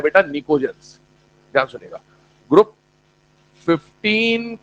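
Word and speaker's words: pnicogens: निकोजेंस कहने का मतलब क्या है उस पर बात कर रहा हूं, ध्यान सुनना। पहली बात, पी साइलेंट है, निमोनिया, निकोजेंस, ठीक है, हाँ।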